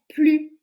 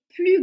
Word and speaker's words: plus: phrase je ne mange plus de viande donc ici on ne prononce pas le S pourquoi parce que c'est une phrase négative donc à chaque fois